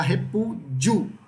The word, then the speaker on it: repúdio: Você fala repúdio, só 3 sílabas.